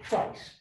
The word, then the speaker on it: trice: He used trice. And by the way, not only is it a wonderful word, but I should point out to you, it rhymes with ice.